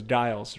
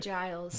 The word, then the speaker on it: Giles: with rachel you said your last name was dials right giles giles it's okay i get